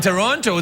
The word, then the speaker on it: Toronto: That's how they say it in Toronto. They don't call it Toronto. They say, when you say, where are you from? They say, oh, I'm from Toronto.